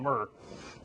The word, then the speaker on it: Mert: We said, well, the T's silent, so we called him Mur.